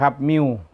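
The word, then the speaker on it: μ: ว่า อ่าน ว่า มิว 4 มิล นะ ครับ มิ้ว มิว อ่าน ว่า มิว หมอ ตัด นิ้ว ก็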